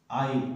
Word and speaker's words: isle: Yeats এ লিখা এটা সৰু কবিতা the lake isle of Innisfree the lake isle ISLE এটু এস টু pronunciation pronounce করিব না লাগে উচ্চারণ করিব না